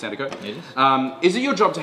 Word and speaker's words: Sandercock: always, have to ask, is it pronounced Cock or Co? It's pronounced Co. Thanks, Tash. Yes, this was new for Brendan. Yeah, very new for me. And I realised the difference between Sandercock and Hancock. It is Hancock, pronounced Cock. But Sandercock, pronounced Sandercock.